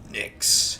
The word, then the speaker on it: Nyx: That's how you pronounce it. Nyx. Nicks.